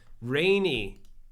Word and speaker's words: Renee: It's pronounced Rainy XD, she says. Oh, is it? Rainy XD. Oh, no, Rainy, just Rainy.